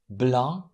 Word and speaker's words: blanc: And here are some examples of words where these consonants are silent. Plomb, blanc, clé, outil, cahier.